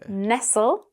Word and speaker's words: nestle: With a short e sound, we have wrestle, pestle, and nestle.